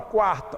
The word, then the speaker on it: quarta: Na palavra quarta, olha o QU de quarta. Ele é pronunciado, quarta. Senão seria o quê? Carta, carta.